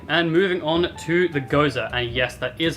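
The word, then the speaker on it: Gose: the Gosa okay and moving on to the Gosa and yes that is how you pronounce it find me in the comments below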